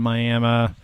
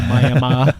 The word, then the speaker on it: Miami: Okay, so we are up in Ottawa County today, just outside of Miami. And I pronounced it properly there, so Miami.